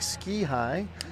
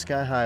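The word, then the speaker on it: Ski-Hi: the Sky High facility looks like ski high but pronounced Sky High locally Sky High is home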